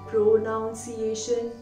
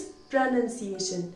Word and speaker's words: pronunciation: प्रोनंसिएशन generally इसको लोग बोलते हैं प्रोनाउंसिएशन. नो नो नो, प्रोनाउंसिएशन नहीं, द वर्ड इज प्रोनंसिएशन.